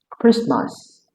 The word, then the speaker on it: Christmas: Silent T also appears at the middle of several common words like Christmas, Christian, mortgage, chestnut, and hasmalt.